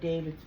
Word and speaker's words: D4VD: Now, this is some information from one of David's fans. He says, now this is actually from Daily David, and that is daily and spelled like David spells it, D4VD.